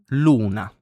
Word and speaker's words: luna: Then we have the letter U, and this vowel in Italian is U. Luna, for example, it means moon. And in fact, it's the same pronunciation as in moon in English.